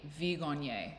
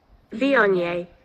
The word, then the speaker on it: Viognier: So there's no G, Viognier. No, it's Viognier.